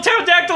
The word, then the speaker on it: pterodactyl: do a really cool pterodactyl impression what noise what noise do pterodactyl make when it goes to the bathroom no nothing cuz the p is silent God damn it flavor